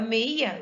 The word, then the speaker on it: meia: tenho de todo fechado olha só eu falo europeia e abra bem a boca agora meia eu fecha a boca de tão fechado assim